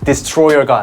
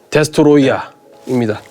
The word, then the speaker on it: 데스트로이아: 디스트로이어가 아닙니다. 네. 데스트로이어입니다. 네. 디스트로이아는 정식 명칭이 아닙니다. 왜냐면요. 여기 써 있죠. 스펠링이 달라요. 데스트로이아입니다. 왜냐면 디스트로이어는 고유 명사로서 너무 많이 쓰여요.